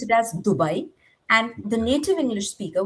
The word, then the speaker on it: Dubai: native proper Hindi pronunciation would be Kartavya, and the word, uh, the second word would be Dubai.